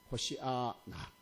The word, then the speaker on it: 호산나: 이렇게 부르짖었다 하는 겁니다이 호산로 번역된 헬라 원어의 발음은 산가 아니고 그건 줄 식이요래 유대인들이 부르는 분은 호시아 나입니다 호시아 나 호시아 나인데 두 개의